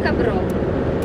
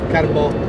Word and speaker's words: Carbó: più o meno correttamente, Mas Carbó o Cabró? Carbó. Carbó.